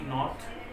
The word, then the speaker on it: knot: इसका pronunciation नो है। नो मतलब जानना। नाइफ है, नाइफ चाकू। जैसे नॉट है, KNOT, नॉट, इसका मतलब होता है गांठ, इसको गांठ बोलते हैं।